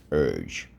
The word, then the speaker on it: urge: Urge. Let's go. Urge, silent E. Urge.